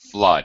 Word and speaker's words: flood: know the word but they mess up the pronunciation so it's a flood flood flood that's it okay you